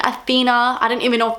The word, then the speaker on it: Athena: so so I'm sorry I was saying it Queen athenia but it's actually Queen Athena I don't even know